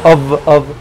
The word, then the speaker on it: of: f que significa d El of que no se pronuncia como F sino se pronuncia como v ov y no es ni